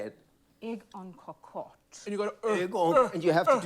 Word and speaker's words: en cocotte: Egg en cocotte. We'll take it. How would you say it? No, you got it. Amber, how would you say it? Egg en cocotte.